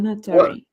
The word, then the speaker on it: Natori: Am I saying it correctly, or am I destroying the name that you have? Yes, you're saying it correctly. What? Lonatori. Lolitori.